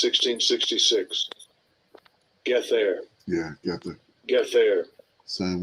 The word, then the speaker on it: Gether: Oh yeah, Gether got that. Gether got that 666, and they gave them the 666. Mm-hmm. Let's see how they pronounce it. Strong's H 1666. Get there.